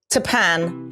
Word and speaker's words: Tappan Street: We can stick that video right in there of him saying Tapan like Japan.